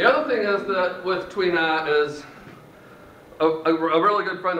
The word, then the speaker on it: tuina: we'll also do our other techniques um it's pronounced TWA and it's spelled like tuna with an i in the middle the other thing is that with twea is a really good friend of mine who's